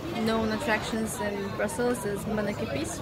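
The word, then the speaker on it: Manneken Pis: The main known attractions in Brussels is mannequin piece, right? I'm saying it right, right? Yeah. Yeah.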